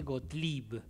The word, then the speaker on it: Gotleyb: es digo bien así golap Perfecto perfecto suenan todas las letras sí origen judío alemán Ajá bien Así que lo pronunciamos bien got sí creo que en alemán se dice gotlib Ah ay que sería